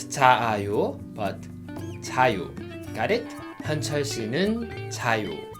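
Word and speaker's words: 자요: In this case, we don't pronounce a twice. We don't say 자아요. We don't repeat the same vowel. Instead, we combined two same vowels, so they will be one vowel. So we read it 자유.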